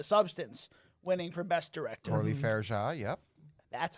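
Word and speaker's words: Coralie Fargeat: Orly Fairja, yep.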